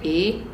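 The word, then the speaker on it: 一: are very similar like in Japanese it's pronounced one is pronounced Ichi and then in Korean it's pronounced ill and then in Chinese it's pronounced E depending on who you speak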